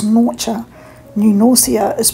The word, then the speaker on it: Norcia: Unlike the Italian town, which is pronounced Norcia, New Norcia is pronounced New Norcia.